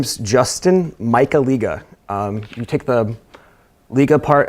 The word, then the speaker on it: Michaliga: here it is again my name is Justin Michael eegah you take the leak apart out of the